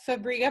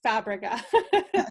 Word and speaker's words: Fabrega: say that right uh everybody says fabria but it's fabrica but you're not alone